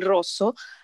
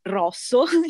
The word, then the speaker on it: rosso: come abbiamo detto prima il rosso che in sardo sice arrubiu quindi è chiuso e quindi mi ricorda molto la pronuncia come si dovrebbe esattamente pronunciare in italiano mentre quando i sardi pronunciano rosso in italiano sbagliano perché fanno lavoro aperta